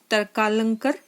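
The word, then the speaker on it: तर्कालंकार: नाम था काली कुमार तरकालंकर। ये बड़ा अजीब सा नाम है, प्रोनाउंसिएशन में भी थोड़ा सा आपको दिक्कत आएगी। तो इसको हम कैसे प्रोनाउंस करेंगे? तरकालंकार। तो इसको आप एक बार प्रैक्टिस करेंगे तो आप सीख जाएंगे।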